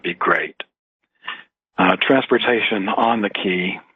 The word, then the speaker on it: Caye: Transportation on the Caye, they're spelled C-A-Y-E. It's pronounced Key.